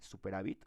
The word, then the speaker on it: superávit: O sea, ¿sí sería el así, superávit, o sería con B chica? No, solo lleva, no lleva. Con B chica, Solo pero lleva acento en la A.